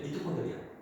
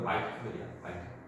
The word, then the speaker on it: 미토콘드리아: 전에는 뭐냐 이제 미토콘드리아. 근데 약간 이제 발음사 약간 좀 미국식으로 하다 보니까 마이토콘드리아.